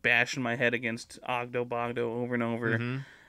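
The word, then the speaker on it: Oggdo Bogdo: I think it's Ogdobogdo. Ogdobogdo, that's it.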